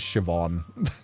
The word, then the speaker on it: Siobhan: That is pronounced as Siobhan.